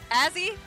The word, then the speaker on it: Azzy: We got Azzy. Oh, yeah. Don't say it wrong. Azzy.